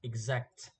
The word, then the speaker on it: exact: The next example is exact. Exact. The second syllable is also strong.